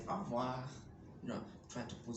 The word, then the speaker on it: au revoir: It is written as au revoir. We don't say au revoir. We say au revoir.